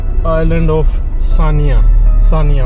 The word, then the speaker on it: Senja: Island of Sania. Sania. वो बड़ा सेंजा करके जाता है उसकी स्पेलिंग।